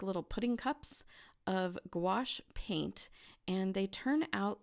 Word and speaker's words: gouache: gouache it is spelled g o ua CH e but it is pronounced gouache kind of like gosh but with a W in it gouache and it is